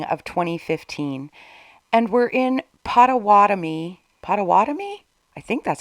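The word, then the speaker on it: Pottawattamie: About a year later, we're now in the spring of 2015, and we're in Pottawatomie? I think that's how you say it. Pottawatomie County, Iowa.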